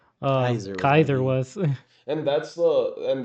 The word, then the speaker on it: Caesar: Rome, but they call it they pronounce it Kaiser. Kaiser.